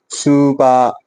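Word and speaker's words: スーパー: ठीक है, next word is सुपा। सुपा थोड़ा सा लॉन्ग साउंड है।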